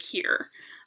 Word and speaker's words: hir: and here which is spelled hir but pronounced like here i know that one's